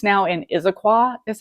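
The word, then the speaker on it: Issaquah: It's now in Isiqua is how that's pronounced.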